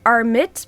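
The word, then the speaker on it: Ammit: Now, some people will say armit, but if I say that I just I just lose my accent like arit. So, I'm just going to say a mit for now, but you know, you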